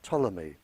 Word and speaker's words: Ptolemy: In 64 BC, a Greek living in Egypt by the name of Ptolemy, spelled with a P, He, a very famous scientist, and his work is still used today.